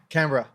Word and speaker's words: Canberra: can add sure right Ashley how do we pronounce oh yeah cuz you're Australian right Canberra we're just beginning brick Canberra Canberra thank you for making sure we we